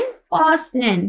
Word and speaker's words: fasten: पास क्या है, FASTEN, फास्टेन, फास्ट। अब फास्टेन नहीं पढ़ना इसको, फास्ट, फास्टेन, फास्टेन। ठीक है, अब यहाँ पर ये देखिए, यहाँ पर T साइलेंट है, यहाँ पर भी फास्टेन।